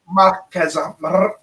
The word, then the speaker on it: Marquez: Marquez. Roll your R's.